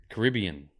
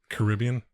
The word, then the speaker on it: Caribbean: me say it the right way the Carib Caribbean Caribbean not the Caribbean well we say Caribbean you